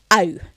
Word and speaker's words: au: good start, but then to get it really right is to think of that spectrum. Ah and u. And so I'm putting those together, au. Au. Nice and open, blowing out a candle.